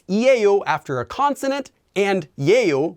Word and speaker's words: 예요: after a consonant and Yale which is actually pronounced as a o after a vowel and you can think